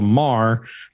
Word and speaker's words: Mahr: And they spell it MAHR and call it a Mar.